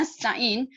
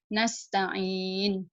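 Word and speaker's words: نستعين: tunjuk nih nasta'in gila kita bacanya nasta'in mulut kita lebih baju besok tebal semua tipis nastangin tadinya tebal gak sido oke mustafic apakah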